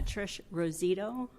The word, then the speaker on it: Rosito: you pronounce that Ros rosito rosito that's an O at the end if you would say it for the record too that would help I say it correctly it's uh Trish rosito and I am uh